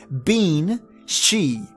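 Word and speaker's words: bean sí: Or even bean, she, and ben, side. But remember, the Irish language pronounces it different. So we spell it B-E-N-S-I-D-E. They would say it as bean she.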